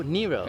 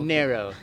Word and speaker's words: Nero: yeah so you said narrow though yes so um kids that I hear your pronunciation here we usually pronounce that Nero but I want to say it the way you say it so narrow yeah that's the African